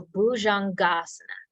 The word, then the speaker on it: bhujangasana: Cambio sequence yes and try to soften the j a little bit so boujongasana uh-huh the next one oh let me tell you what bhujangasana is do you know